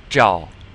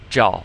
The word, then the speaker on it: 照: So you put the zh and the ao together and you get 照. 照.